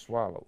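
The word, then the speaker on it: Soileau: He says it's pronounced Swallow. It's S-O-I-L-E-A-U, Swallow.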